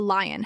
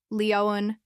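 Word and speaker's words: Lyon: I'd like a roundtrip ticket to Lion has stress. I'd like a roundtrip ticket to Lion. French Pronunciation: Lion is Leoan in English context use formal transaction tone that's clear and purposeful.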